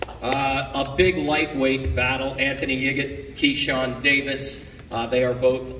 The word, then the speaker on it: Yigit: Can you dig it, Yigit? Yeah, that's me. I love it. It makes the name pronunciation make sense. There are no questions asked by everybody here in the media. That's how you say his last name.